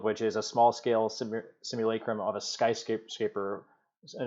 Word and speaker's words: simulacrum: the tape on this it is said like this simulacrum it's um let's call